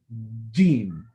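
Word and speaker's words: جيم: Before you say the Jeem, the air actually fills up. Jeem. So you can't just pronounce the Jeem without letting that air actually first gather up and then go. So there shouldn't be any area left on the top, otherwise a Jeem will not come out.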